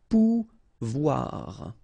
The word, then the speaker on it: pouvoir: And when you combine this O and E here, you get the sound WA, okay? So, pouvoir. Pouvoir.